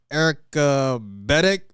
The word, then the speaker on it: Enaka Beteck: She was like, "Enaka Beteck." I was like, "Oh my gosh, man!" Enaka's here. Am I pronouncing that right?